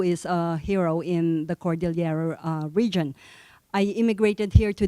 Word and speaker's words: Cordillera: And in the Philippines, we pronounce it Cordillera with L-Y.